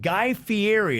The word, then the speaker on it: Guy Fieri: got a dude named guy fieri is how you say his name yep okay all right